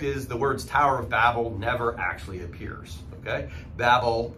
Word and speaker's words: Babel: so the Tower of Babel sometimes it's pronounced Babel I think Babel is probably the better pronunciation because of babbling and that works pretty well when this story is told